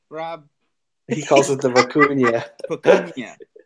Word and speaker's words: vicuña: Vicuña.